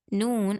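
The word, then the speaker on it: ن: to pronounce the lam and noon, basically what you have to do is you have to touch this part with the teeth that represent right next to it.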